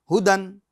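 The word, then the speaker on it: هُدًى: मगर हम इसको हिज्जे में नहीं पढ़ रहे हैं। हुदन हुदन।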